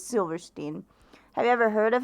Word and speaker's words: Silverstein: I never knew how to pronounce his last name. I think it's Silverstein.